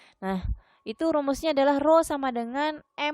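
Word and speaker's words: rho: selanjutnya massa jenis nama saja disitu sebelumnya adalah roh ya kayak P itu bukan peta piro bacanya Nah itu rumusnya adalah roh = m per v&m itu Apa itu masa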